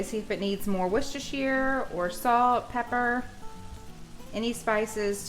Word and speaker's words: Worcestershire: How do you say Worcestershire? Worcestershire.